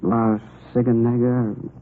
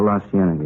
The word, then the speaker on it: La Cienega: Over on, that street out that way, La Ciganega, is that how you say it? Oh, La Cienega, yeah. Now, what were you doing out there?